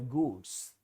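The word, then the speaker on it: gourd: आउट टू by himself गुड्स। ये जो goats है पहले जरा इसकी बात कर लेते हैं। फिर वहां पर हम आते हैं। Okay? Ji ओ यू आर डी। इसका उच्चारण होता है गॉड।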